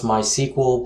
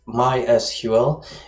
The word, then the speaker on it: MySQL: be using is called mysql okay some people pronounce this mysql but it's mysql and mysql is an open source uh insanely